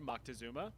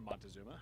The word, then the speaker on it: Moctezuma: More specifically, history has suggested that the Aztec ruler Moctezuma, or Montezuma, however you want to pronounce it, believed that the arrival